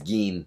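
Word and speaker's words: 銀: I know that looks like gin to a lot of you English speakers, but it's not. It's gin. So, G-I-N in this case is gin.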